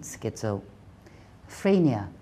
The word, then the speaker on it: schizophrenia: 咁我哋要練習 schizo 講咗先 schizo。Phrenia, phrenia, schizophrenia, schizophrenia, OK?